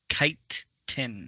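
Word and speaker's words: chitin: send you the link there chase it's actually pronounced kite tin what yep i know because like i i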